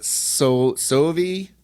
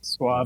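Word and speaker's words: Soavi: I thought you picked this because it was Sovi. I can't remember how you pronounce his name. Suavi, the director, Michel Suavi. No, Sovi.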